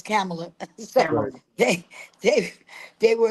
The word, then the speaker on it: Kamala: uh and they said don't get her name wrong it's not Kamala it's camela so they they they